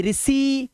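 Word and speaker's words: receive: अगर किसी वर्ड में इ आई आएगा तो इ आई को ई से ही पढ़ते हैं।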